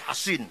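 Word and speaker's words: حصين: Bisod ya, Hasin. Kalau Sin Husain bacanya. Kalau Sod Hasin bacanya.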